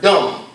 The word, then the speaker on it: dumb: And it is where the English people, speaking people, derive the English word dumb. D-U-M-B. You notice you don't pronounce the B?